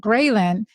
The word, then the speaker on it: ghrelin: And ghrelin, it's interesting, it's spelled GHRELIN. So it's like a gremlin, essentially.